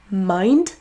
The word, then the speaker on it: mind: Il existe des exceptions comme le mot mind qui contient un i plus une consonne mais qui n'est pas du tout prononcé comme un son i.